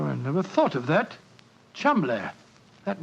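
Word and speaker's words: Cholmondeley: reason to know that the name chamble is in no way pronounced the way it is spelled but you I never thought of that chumbler that name spelled c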